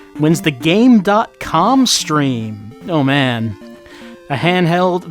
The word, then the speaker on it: Game.com: actually used a game it's pronounced gamecom well I mean the dot might be silent but that's not how it is these days you pronounce the dot um so I've never